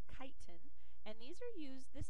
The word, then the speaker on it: chitin: vegetables and then lastly we have kite it's pronounced with a que not a CH so it's chitin and these are used this is a type